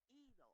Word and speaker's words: hilo: A tope con hilo. I don't know, man. I'm trying. Con hilo. The H is silent in Spanish. Oh. Hilo. Elo.